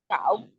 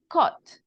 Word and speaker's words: caught: Cow. Cow. No, I'm not sure the pronunciation. Tell me. Cow. Couch. Okay. Just the pronunciation is with an O. Caught. Like this, caught.